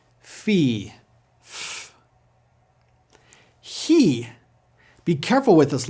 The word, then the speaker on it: Chi: Rather than having a CH or K sound, he sounds more like an H with plenty of friction. Place the tongue near the top of your mouth and pronounce H like a cat hissing for this letter.